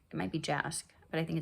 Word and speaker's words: Jask: I think the J isn't pronounced. I think it's Yazd. It might be Jask, but I think it's Yazd.